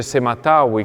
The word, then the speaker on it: sema-tawy: si vede da una parte questo simbolo che si legge Sematawi, che significa l'unione dell'Alto e del Basso Egitto.